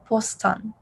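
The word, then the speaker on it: 보스턴: um boston massachusetts so boston is busan okay very similar actually the same just pronounced in a korean accent postan last one we see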